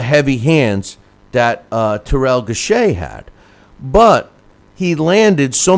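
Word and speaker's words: Gausha: mean case in point Terell uh gash is how they were pronounced ing uh his name I always thought it was gashua but uh Terell gashay who was a 2012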